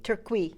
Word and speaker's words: Tircuit: And we're going to have people like Ben Haith and Tircuit. Tircuit. I yeah. said it right. Tircuit, you got it, yeah. To lead us in that very important work Well, of I like history.